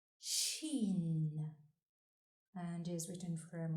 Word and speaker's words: ش: The 13th letter is pronounced Shin and is written from right to left on the line. Shin has 3 dots above.